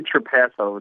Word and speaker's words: Trapasso: It's actually Trapasso, like a pass in the NFL. Trapasso. That's the easiest way to remember.